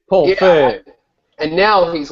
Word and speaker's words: Feig: So he's like a whiny fig, right?